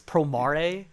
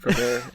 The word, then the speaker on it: Promare: Remember when everyone started calling this Promare? Because we were like, that's going to be the Japanese pronunciation for it. And then they had to be like, no. We took it from like the mare from Nightmare. And we put... And we were from like, Prometheus.